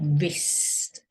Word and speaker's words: wrist: another one let's do wrist e wrist remember we're not saying it but we're writing it R then rub it